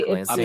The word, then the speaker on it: Ypsilanti: I'm in Ypsilanti. Ypsilanti. If I'm pronouncing it right. Locals say Ypsilanti.